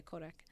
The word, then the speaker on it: Kodak: Yeah, Kodak. They had to Kodak. They had to rebuild they had to build a warehouse and dedicate it just to that. Damn, Kodak. Or some shit like that. Yeah. Kodak don't play.